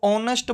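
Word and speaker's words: honest: हमें पता होना चाहिए एच के बाद अगर ओ आता है तो एच उसमें साइलेंट रहता है तो ऑनेस्ट बोला जाएगा घोस्ट नहीं होता है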